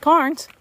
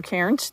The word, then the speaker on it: cairns: rocks recreation area um lots of carns or cairns depending on how you like to pronounce it uh there is a